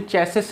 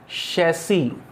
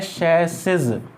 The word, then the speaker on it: chassis: और आपको विशेष रूप से ये ध्यान रखना है, इसका प्रोनाउंसिएशन चेसिस नहीं होता है, CHASSIS। आपको आश्चर्य होगा सुनकर, है ना, आपको आश्चर्य होगा, इसका प्रोनाउंसिएशन होता है शैसी, इसका प्रोनाउंसिएशन होता है